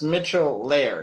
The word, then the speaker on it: Mitchell Laird: Is the name Michel Laird, or how do you pronounce the last name? Sure. It's Mitchell Laird.